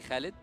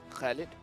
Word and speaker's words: Khalid: name yeah it is khid khed khid yeah okay so that's how we pronounce it yeah KH you tried that did you try that Lael to say Khalid Khalid yeah see yeah this